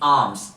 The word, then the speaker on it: alms: इन the same way next word is Holi आर्म्स। इसका उच्चारण समझिएगा, ALMS, आलम्स नहीं, आर्म्स, होली आर्म्स, दक्षिणा देना।